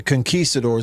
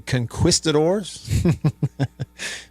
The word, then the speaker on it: conquistadors: just for example The Conquistadors and everybody spelled it correctly uh if you pronounced it the way that it is spelled you would be saying conquistadors but it is conquistadors and they've got the